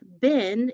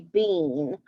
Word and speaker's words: been: It looks like it would say bean, but it doesn't. It's been.